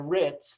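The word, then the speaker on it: RITMS: And this is our home, the home of the RITS, the M is silent, Rutgers Institute for Translational Medicine and Science, is in the Child Health Institute on French Street in New Brunswick.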